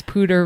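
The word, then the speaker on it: Poudre: run along the Pter I learned how to say the morning of the race pter river. I can't with Colorado. They say everything wrong. That is not how it's spelled. That is a New Jersey and you saying that Danielle Pter that is one weird and two it's spelled P O U D R E. So please someone explain to me how that comes out to pter.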